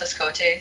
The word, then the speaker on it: Hoskote: And then my last name is pronounced Escote, so.